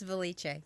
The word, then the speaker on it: Valliche: Our guest today is Lynda Valliche. Did I pronounce that right? It's Valliche.